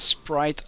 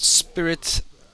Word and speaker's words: Sprite: It's Sprite like the drink and not Spirit like a ghost.